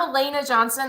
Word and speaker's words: Elena Johnson: is totally fine but I'm Elena Johnson that's how you say my name it's one of those